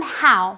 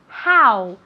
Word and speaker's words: how: Cuidado con how, ¿vale? Se escribe con una O, pero se pronuncia como si fuera una A y después una U. How, ¿vale?